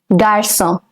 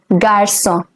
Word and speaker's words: garçon: For a boy, it's garçon. The C over here will have a soft sound. It is garçon.